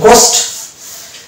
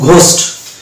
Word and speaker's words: ghost: Next word দেখবো GHOST। British ইংলিশের ক্ষেত্রে এইচ সাইলেন্ট করে দেবো, দিয়ে হয়ে যাবে গোস্ট, এবং আমেরিকান ইংলিশের ক্ষেত্রে এটাকে ধরবো ঘোস্ট। তাহলে গোস্ট বললেও মানে ভুল হবে না, আর ঘোস্ট বললেও ভুল হবে না।